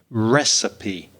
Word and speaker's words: recipe: it's really useful and the second one is the word recipe three syllables i know you're a portuguese speaker but it's rather in spanish perhaps it's similar in portuguese i'm not sure recipe when you cook food